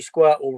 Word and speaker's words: Squirtle: And obviously Squirtle rhymes with turtle.